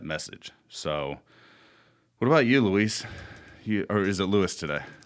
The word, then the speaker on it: Luis: Luis.